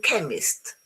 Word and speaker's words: chemist: There are some words in English which are written with a CH, but they are pronounced K, as in chemist, as in choir, psychiatry, ache, stomach, chaos, chasm.